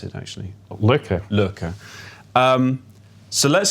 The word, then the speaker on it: Lykke: which is underlying your new company like or looker how do you pronounce it actually looker looker um so let's say that does happen